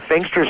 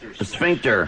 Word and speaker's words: sphincter: I was thinking of using a installing a sphinster switch, but forget it. I'm not cleaning it, pal. How did you pronounce that? Sphinx. Sphincter.